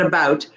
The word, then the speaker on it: about: Like, they immediately know just from my pronunciation of this vowel sound, ow, A-U, ow. Okay, so in the Northeast, and probably the whole of the US, now that I think about it, they say ow, about.